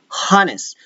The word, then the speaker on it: honest: We don't say honest. We say ah, ah, ah. No H. We refer to it as honest.